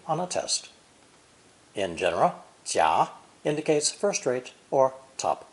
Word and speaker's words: 甲: This character is pronounced third tone, 甲, 甲, and is used much